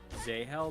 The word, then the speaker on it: Zahel: Zahel. That's how you say his name. But I feel like they say it weird in the audio book. I think it's like Zyle or something in the audio.